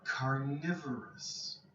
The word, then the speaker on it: carnivorous: They are carnivorous. The adjective. Carnivorous. Okay. Be careful of the pronunciation here. Okay. Carnivore, carnivorous. Okay. So in here you have to say the V.